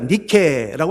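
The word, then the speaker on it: Nike: 그 줄여서 우리가 니케라고 하는데 단어가 영어 발음으로 하자면 아 똑같죠. NIK 영어식으로 발음하면 나이키라고 발음을 하고 있습니다.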